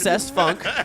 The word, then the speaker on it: Cest Funk: His name is definitely pronounced Cest Funk.